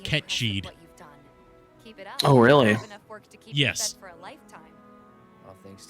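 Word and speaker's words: Cait: think right so yeah I hate that they're calling him cat Sith or cat or Kate Sith when it's an that is an actual word it is a Gaelic word and supposed to be pronounced Ked oh really for a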